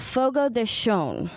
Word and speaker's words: Fogo de Chão: I am here with Ryan Metcalf, the general manager, and Nicole Morgenstern, the sales and marketing manager of Fogo de Chão.